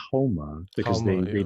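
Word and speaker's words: haoma: And you know, I mean, even in Zoroastrianism, uh, there's soma, but it's called homa because Halma, they yeah. didn't pronounce the S, they pronounced it like an H.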